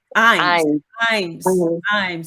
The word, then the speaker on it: Ijames: Ijames. The J is silent.